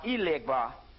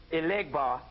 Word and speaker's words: Elegba: Because you got to put 4 pennies on each corner of a crossroads on Monday and ask Elegbar or Legbar, that's Elegbar in Yoruba, Legbar in Vodun, and you ask them for financial lead.